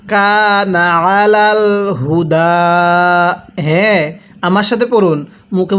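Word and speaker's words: على الهدى: আলাল হুদা। এখানে হাটা উচ্চারণের সময় গলার মধ্যে আওয়াজ করবেন। অনেকেই আলাল হুদা এরকমভাবে পড়ি, এরকমভাবে পড়লে পড়াটা সহিশুদ্ধ হবে না।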